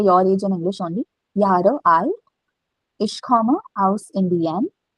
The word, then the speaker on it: Jahre: So 26 Jahre alt. So when a word is starting from J, no, it has to be pronounced as Y.